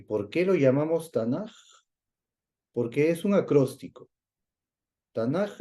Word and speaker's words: Tanaj: español Por ese motivo el acróstico que nosotros pensaríamos que tendría que ser tanac en realidad es tanaj porque la tercera letra es una letra en hebreo Aquí estamos colocando todo